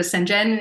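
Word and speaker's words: CNGN: pleased too if anyone is like what do senen it's spelled c n GN center of excellence and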